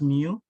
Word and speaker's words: Mu: this the sigma deviation the way you pronounce the one over here you pronounce it as Mu this one Ison as Sigma I know if you remember